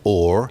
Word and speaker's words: whore: The pronunciation of whore as or. You'll notice two things about it. The H drops at the beginning. H often dropped in early modern English in that way.